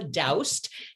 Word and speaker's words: Daoust: dr uh m paula doused that we say in the us and since we're in the u.s that's how we're going to continue to pronounce it and she is just